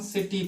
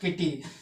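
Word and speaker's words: city: से कर रहे हैं इसको हम सिटी पढ़ रहे हैं ठीक है नॉट किटी ठीक है फिर उसके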